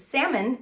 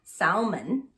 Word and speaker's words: salmon: sure ok other features salmon not pronounced Salman okay salmon hatch in